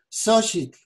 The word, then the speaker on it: Xóchitl: Por ejemplo, en náhuatl, flor se dice Xochitl y se pronuncia con la parte de arriba nada más, Xochitl.